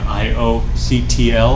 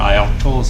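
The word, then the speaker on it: ioctl: read and write and io CTL or i'll tolis I like to pronounce it virtual machines especially especially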